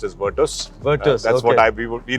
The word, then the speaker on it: Virtus: virtus has provided by the way it is pronounced as virtus that's what I would be like to call